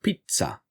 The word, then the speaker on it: pizza: sound of a letter unlike German and Italian which have that for the letter Z which is why it's pronounced Pizza even for the new